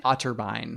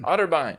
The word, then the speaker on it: Otterbein: met Christine how do you say auto buying Otterbein Otterbein OTT II Barbie I thought it was yeah